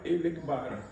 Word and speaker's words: Elegbara: Mas por conta da fonética espanhola, eles não conseguiam pronunciar o Iorubá, Elegbara.